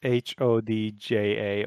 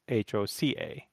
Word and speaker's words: Hoca: Yeah, it's Hodja, although in Turkish it's Hoca, but you pronounce it with that, like the D, that sound that the D and the J make in English.